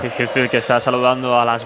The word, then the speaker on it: Hetfield: Acaba de decir Hetfield ahora mismo. Hetfield. La pronunciación correcta. Hetfield que está saludando a las masas.